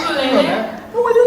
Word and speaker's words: ukulele: It's not ukulele, actually. He said ukulele. I said ukulele. Is that really how it's pronounced? Yeah, it's ukulele.